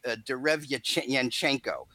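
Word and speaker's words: Derevyanchenko: The guy that has been getting pushed by his promoter, Lou DiBella, is a Russian named Sergei Derevyachenko. Very good, by the way, the pronunciation.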